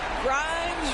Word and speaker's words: Grimes: Grimes rhymes with dimes.